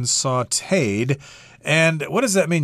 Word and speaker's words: sautéed: this word is pronounced sauteed if I'm using English pronunciation rules I'd probably say sauteed but no that's wrong this is the French pronunciation sauteed and what does that